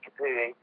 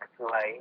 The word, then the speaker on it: Capoue: I would actually go with Capu, not Capoue, even though he has an acute accent on the E.